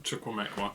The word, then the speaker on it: Chukwuemeka: It was put back in by Gross, and the inability to clear Vankani Chukwuemeka. Chukwuemeka. That's the one. I'll get his pronunciation right by the end of the season, I promise.